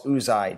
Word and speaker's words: Uzay: So then first of all, it's Uzay, Joe, not Uzay.